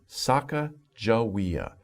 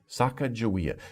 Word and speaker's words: Sacagawea: When the first time I saw this name, I was like, oh my gosh, how do you pronounce that? But it's Sacagawea. Sacagawea.